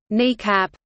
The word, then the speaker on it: NEACP: SAC also maintained the National Emergency Airborne Command Post (NEACP), pronounced kneecap, also known as looking